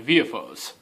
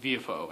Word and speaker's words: Villefort: It's like, if you look at that, it's spelled Villefort, but it's pronounced Villefort, and Danglars instead of Danglars, and Morcerf instead of Morcerf, I guess.